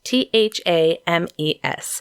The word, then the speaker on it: Thames: Thames looks like it should be the Thames th a.m. ES and it's pronounced Thames ok I just remember when I